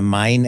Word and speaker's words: Main: So we have the Deep South, the South, the Main era. I pronounce it Main because it's named after the German river of Main.